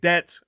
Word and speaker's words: debt: Even though those words or letters were never pronounced in English, these scholars added a B in words like debt and doubt to make it look a bit more Latin.